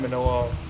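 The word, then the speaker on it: Minilla: Like I personally find Manila or Godzilla Jr. I'm just calling him Manila. That's the right way to pronounce his name.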